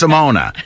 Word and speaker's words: Simone: I know how to say Simona. You probably do. Even though it's spelled Simone. It's Simona.